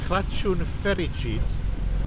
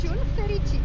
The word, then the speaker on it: Crăciun fericit: Yes, Now I think that's I'm right in saying Crăciun fericit. That means Merry Christmas. Merry Christmas. Yes. Crăciun yes. fericit. Crăciun fericit. How is my pronunciation? Is it Very okay? good. Very good. Impressive.